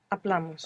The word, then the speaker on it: hablamos: Hablamos. Hablamos. Good. So, with amos, we're adding on two syllables, and the accent is going on the second last syllable.